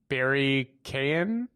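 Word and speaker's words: Barry Keoghan: butcher his name pronunciation barry kayan i i think you don't pronounce the g the uh the joker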